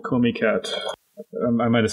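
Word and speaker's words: Comiket: always wanted to go to a thing called Comey cat I might have said it wrong yeah it is Comey cat call me kettle um I wanted to go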